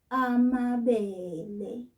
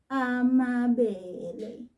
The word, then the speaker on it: amabele: And this one was made with a grain called amabele. Pay very good attention to how I'm saying this. Amabele.